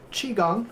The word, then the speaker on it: qigong: yeah okay um qigong uh you could see the spelling in different ways so uh most likely you'll come across the q-i-g-o-n-g and then if you look at um the old wade guile system uh you'll it'll be c-h-i-k-u-n-g same exact pronunciation same exact words but